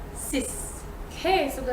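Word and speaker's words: six: So it's the number 6 and the number 10, so 6 and 10. The X at the end is going to be pronounced as S. 10, 6.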